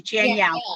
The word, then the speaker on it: Janielle: It's just like Danielle with a J. Janielle.